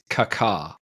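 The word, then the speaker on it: Kaká: Kaka or Kaka how do how do we pronounce Kaka I think it's I think it's Kaka yeah but I did say when I interviewed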